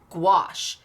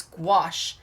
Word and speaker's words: gouache: it's pronounced I understand gouache squash that's how I know to remember it I had to call